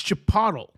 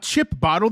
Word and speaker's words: chipotle: It's chipotle. Chip. It's not chip bottle. There's no freaking B.